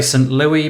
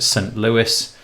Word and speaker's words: St. Louis: Louis I always want to say some low E but I'm pretty sure you pronounce it st. Louis and yeah there you